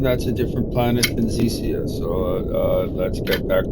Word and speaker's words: Xecea: Sure, it's pronounced like Xecea with the emphasis on the middle syllable. So just think of it like Xecea.